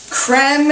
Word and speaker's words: creme: Our Philadelphia Cooking Creme is really the way this should be pronounced, like creme fraiche or creme brulee, but it's so thick and creamy and delicious that I say cream.